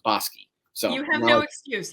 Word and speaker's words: Bosque: And I called the horse Bosque first time out. Like one would. Like one would, exactly. And then our mutual friend Pat Cummings told me, I think that's the name of a city on the way to Waco from Dallas. And it sure is. And it's pronounced Bosque.